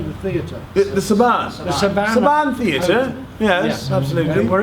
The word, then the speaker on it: Saban: The Saban Saban.